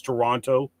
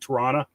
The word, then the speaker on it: Toronto: can see it's uh this is how I pronounce Toronto if you're from Toronto you pronounce it Toronto so and it's got